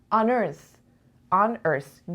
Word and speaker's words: unearth: On earth 2 سیلاب داره. رو سیلاب اول فکر میکنین استرس یا سیلاب دوم. On earth. The da. So the second syllable, right? So on earth.